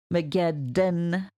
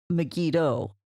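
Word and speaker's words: Megiddon: Megeddon, you got the N sound at the end, not Megiddo.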